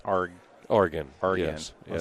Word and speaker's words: Argen: But in Canada, they say Argen, Canada. Argen. Yeah, they just mispronounce it out of spite, I think. But technically it's Argen.